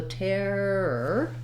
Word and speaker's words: terror: in the dictionary so terror terror you might find it easier initially to break it up tear er or build from the back er what you'll find though